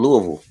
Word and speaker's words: Louisville: It's spelled Louisville.